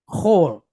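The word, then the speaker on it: כֹל: So like a KH with, again, the O sound and then the lamed, right? The L. Chol.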